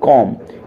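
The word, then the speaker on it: comb: जो हम पढ़ते हैं सही क्या है कॉम क्योंकि एम के बाद बी आया है और एस पर रूल वैन बी इसे प्रेसीडेड बाय एम इन date condition B रेमैन silent silent होगा देखिए डेट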